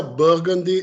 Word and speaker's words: Burgundy: Se pronuncia Burgundy School of Business.